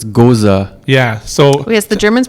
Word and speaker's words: Gose: beers made and also uh is it pronounced ghosts uh it's a german word so it's goza yeah so yes the germans pronounce every letter um tell me about sour